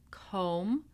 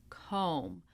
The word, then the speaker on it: comb: This is the silent B. So we do not pronounce the B in any of these words. We have climb, numb, womb, comb, lamb, debt, doubt, subtle.